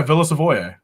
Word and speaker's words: Villa Savoye: Pronounce the name of the set, Tyler. Villa Savoy or Savoye? Yeah, Villa Savoye, right?